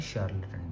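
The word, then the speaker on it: charlatan: कोई नॉलेज नहीं होती है वो होता है शारलेटन। ठीक है?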